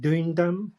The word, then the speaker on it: Duindam: I think you pronounce it Duindam.